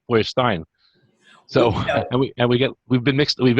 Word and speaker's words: Feuerstein: And they pronounce it how my father pronounced it, Feuerstein, and that's how it stays.